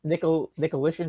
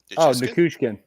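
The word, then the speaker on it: Nichushkin: Nicolishin, is that his name? On Colorado, the center? Nikushkin. Nikushkin, okay.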